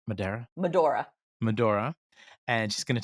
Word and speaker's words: Medora: town what do we want to do in Madera Medora Medora um okay during the break there I mispronounced it five times did the first half